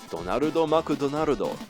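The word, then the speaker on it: ドナルド・マクドナルド: in Japan, the magical clown's name is actually Donarudo Makudonarudo. The official rationale McDonald's Japan cites is the relative ease of pronunciation, but I think that's odd considering do and do are entirely distinct sounds in Japanese.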